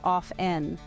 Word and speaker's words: often: The correct pronunciation, according to most dictionaries, is off-en. Another commonly mispronounced word is espresso.